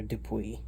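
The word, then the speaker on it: Sir Dupuis: olgunesh arcmer emmaroon Jordan sir dupus just kidding it's sir dupui or dupus the doofus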